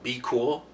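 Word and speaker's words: BQool: i use is uh be cool it's spelled b q o o l dot com it's a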